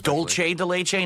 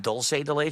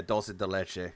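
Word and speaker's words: dulce de: that one Tyrone's cucumbers DOL de not dolce de okay no yeah DOL de DOL de got it I'm learning pronunciations it's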